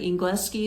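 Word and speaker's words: Engleski: He said something in Serbian and I said English, like Ingleski is how they say it.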